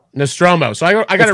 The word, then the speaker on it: Nostromo: Now I could get this wrong because I always say the name wrong, but I believe it's Nostromus. It's the Nostromo. Nostromo.